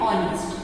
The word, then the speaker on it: honest: H remains silent. Our and honest.